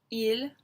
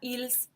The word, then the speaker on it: ils: And then we have il and elle. Listen to me say that again, il and elle. There is that S, but we don't pronounce it. So it's not ils, it's il.